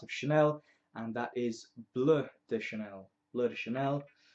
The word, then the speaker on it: Bleu: from the house of Chanel and that is blur the Chanel blur the Chanel some people pronounce it blue um which is what it means in French